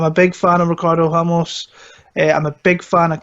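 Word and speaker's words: Ramos: settled in there we've got Ricardo now it's pronounced Hamas but we saved a mass because we're not from Latin America and then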